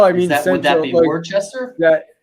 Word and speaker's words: Worcester: We call it Worcester. I don't know how that happened, but that's how we pronounce it.